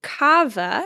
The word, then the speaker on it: kava: Another thing that I've heard about that I have not tried and so cannot attest to is cava. It's spelled K A Va.